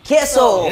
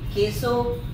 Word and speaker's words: KEISO: Cagayan de Oro uban na to karon ang keso so Because we're so Gwapo so kusta man mo B an sa gina pagpronounce sa inyong name keso keso keso keso keso keso Oo ke K